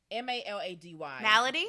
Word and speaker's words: malady: No, it's not melody. It's melodic? It's melody of the nerves. Malady. Malady? Malady? It's malady. Malady.